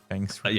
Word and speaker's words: Feng Shui: Feng Shui. Yeah, Feng I Shui. always pronounce it wrong.